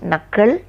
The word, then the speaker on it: knuckle: So the time to submit the project is very short means knuckle under. K is silent. How should you pronounce? Knuckle under.